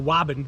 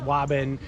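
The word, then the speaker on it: Waban: section of newton um so think about that how would you pronounce it and yes i'm teasing people you know because how the outsiders talk about the towns in the areas of massachusetts so wabin we're in the wobben area of newton um like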